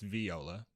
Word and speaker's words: Viola: Sutton who was played by Viola Davis it's Viola I'm sorry yeah she she she has said her name pronounced V you know what these stars coming